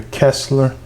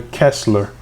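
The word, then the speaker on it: Koestler: Okay, it says it's pronounced Arthur Kessler. Okay, so the O is silent. Arthur Kessler.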